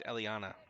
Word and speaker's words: Eliana: Oh, and it's not Ella, it's Eliana.